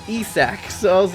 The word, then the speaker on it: Isak: I was so bad last episode that I mispronounced Isaac, and it's Isak.